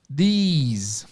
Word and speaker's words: these: A diferença na pronúncia simplesmente é que a primeira vogal alonga-se e no final tem um sonzinho mais alongado também. Então, this, singular, these, plural.